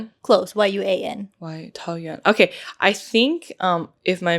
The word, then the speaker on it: Taoyuan: So if you spell it with, the alphabet, it's Taoyuan. Close. Yuan. Taoyuan.